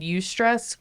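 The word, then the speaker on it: eustress: there's like um there's something called ustress. It's spelled eu s t r e ss which is like positive stress.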